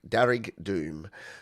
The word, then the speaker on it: Derg Doom: Derg is Irish for red. Derg Doom equals red death. And it's Darrig Doom.